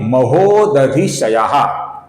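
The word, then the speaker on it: महोदधिशयः: धी भी रस्व है आगे नाम है महोद शयाह यहां पर धी ह्रस्व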